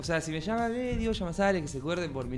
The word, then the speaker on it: Llamazares: ¿Cómo se pronuncia tu apellido? ¿Es Llamazares? Llamazares, sí.